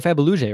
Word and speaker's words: Fabuluje: I'm interested to see how you pronounce his name. Teo Fabuluje, right?